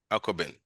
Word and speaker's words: Akoben: It's AKO. It's a local word. It's not an English word. Okay. AK. Okay. Yeah, so AKOBEN, Aquabin. Okay, so it's a 3-word or something. Yes. Okay. Yes. It's Aquabin.